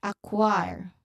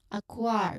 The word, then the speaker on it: acquire: So that is the reason, that is the explanation why KW is found in the sounds, in the IP transcription of the word, but not in the word itself.